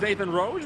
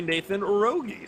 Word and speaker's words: Nathan Rogi: true jesus apparently today we thought it was nathan rose we've just been informed it is actually nathan rogi so sometimes you pronounce